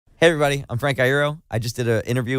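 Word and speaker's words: Iero: Frenk Aïro. All right. Thank you so much. By the way, I've heard your last name be pronounced a couple different ways. You got it right, by the way.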